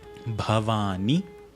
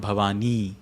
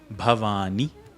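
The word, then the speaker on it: भवानि: Bhavani. This ni is short. It's not Bhavani. That's a different word. Bhavani.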